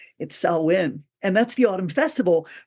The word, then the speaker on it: Samhain: Although look at it, it's spelled Samhain, so it looks like Samhain or something like, but it's Samhain.